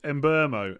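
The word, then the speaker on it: Mbeumo: you started keeping him it's pronounced in burmo and burmo oh god i'm never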